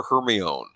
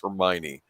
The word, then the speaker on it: Hermione: before i'd seen the movies i called her hermione oh no i used to that's how i pronounced her name i didn't realize oh and i watched oh it's hermione sorry i i would i cosplayed hermione for